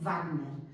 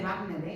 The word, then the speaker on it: Wagner: Y por eso en castellano todavía, en fin, hay gente que dice Wagner, y lo dice muy bien. Pero si queremos pronunciarlo como se pronuncia en alemán, pues al final acabaríamos diciendo eso.